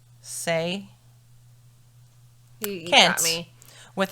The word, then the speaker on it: Hsieh: It's spelled Hsieh. Say.